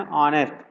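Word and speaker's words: honest: एन हमने इसलिए लिखा है क्योंकि ऑनेस्ट जिन शब्दों का उच्चारण किसी स्वर से शुरू हो, ऑनेस्ट आ रहा है, स्वर है ना, तो इससे पहले एन लगाते हैं।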